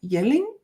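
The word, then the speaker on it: Jelling: in a small town called yeling spelled with the j um and it's actually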